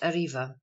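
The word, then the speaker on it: arriba: arrests either in civil or criminal suits Spanish pronounced Arriva Aloft quickly Asia Contra song to mount a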